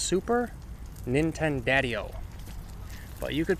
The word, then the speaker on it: Super Nintendadio: And as for me, a lot of people just call me Super Nintendo cuz my name's kind of long, but it's pronounced super Nintendadio.